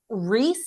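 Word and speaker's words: Rhys: start deteriorating and then Rees is is how I'm supposed to pronounce the name it's Rees yeah and then reys comes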